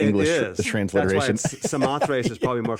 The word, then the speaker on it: Samothrace: to read this one, Samothrace. Is that how you pronounce it? Samothrace. The following... Samothrace might be actually more correct, but we say Samothrace.